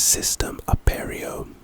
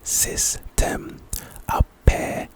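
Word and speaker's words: Cistem Aperio: The next spell is System Aperio, and it's also a charm. It's pronounced System Aperio.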